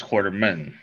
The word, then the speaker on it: Quarterman: uh she's very funny and very interesting chablis quarterman hello thank you for having me did i pronounce the last name right quarterman yeah perfect it's not like allen quartermaine it's quarterman orderman yes yes that's uh that is i